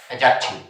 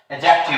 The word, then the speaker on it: adjective: आज का हमारा टॉपिक है एडजेक्टिव। क्या नाम है? एडजेक्टिव। एडजेक्टिव नहीं, एडजेक्टिव, क्योंकि ए के बाद में डी साइलेंट होता है।